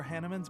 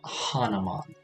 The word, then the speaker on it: Hanneman: i suppose hannah man it is supposed to be pronounced hannemann i don't know i just see that and i think it's like hanuman but i i guess if the game pronounces it hannah man i'll pronounce it hannah maybe he's made some